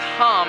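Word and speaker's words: हं: And its bija mantra is hum, H-A-M. It's the only ham that should ever touch your mouth, right? Because it's the pure kind of ham. But it's pronounced hum.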